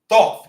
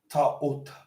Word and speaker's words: Thoth: Ain't even how you say his name, because you don't say a TH like that together. It's actually Ta'ut, which is basically Tehuti, because you pronounce everything. And the O is O, and the H is a breath, and the T is T. So you would say Ta'ut.